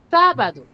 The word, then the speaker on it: sábado: Por ejemplo, la palabra sábado. Sábado. ¿Cuál es la sílaba tónica, me dijeron? Sábado. En la sílaba, Sa. en la sílaba sa. ¿Cierto? Sa. Entonces, su sílaba tónica es sa.